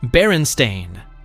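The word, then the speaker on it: Berenstain: It's pronounced Baron Stain with an stain ending.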